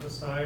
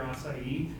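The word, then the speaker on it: açaí: Acai or acai, I've heard it pronounced both ways, is a very high antioxidant load.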